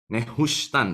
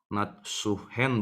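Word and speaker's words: Nehushtan: Nehustan, ya bukan kita bacanya Natsuhen, bukan, saudara ya. Nehustannya tetap kita baca, tapi ini dibacanya dari huruf paling kanan ke yang paling kiri.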